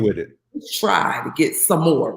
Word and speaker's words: Sommore: doing I said um you keep calling me Samora I said and my name is some more he was like oh